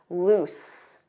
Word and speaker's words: loose: Loose with an S. Loose.